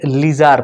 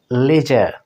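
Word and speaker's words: leisure: দেখুন আমরা এটা লিজার পড়ি, সাধারণত আমরা লিজার বলি, কিন্তু ব্রিটিশে কি উচ্চারণ হয়? লেজার। আরটা কিন্তু সেভাবে হয়ে থাকে, অর্থাৎ হাফ উচ্চারণ হবে বা উচ্চারণ হবে না, এই টাইপের, লেজার।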